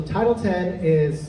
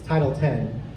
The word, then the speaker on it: Title X: And actually, so Title 10 it's spelled Title X, so if you've seen Title X in writing, it's Title 10.